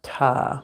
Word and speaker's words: Ptah: symbol and the energy of Ta, which that's how I pronounce it.